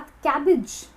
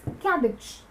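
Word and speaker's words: cabbage: और उसके साथ साथ कैबिज। अब ये वर्ड जो है थोड़ा सा कंफ्यूजिंग है प्रोनाउंसिएशन के लिए। इट्स कैबिज, इट्स नॉट कैबेज, इट्स कैबिज।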